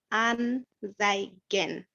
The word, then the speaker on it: anzeigen: This letter is pronounced as th, not z, but th, zai, zai.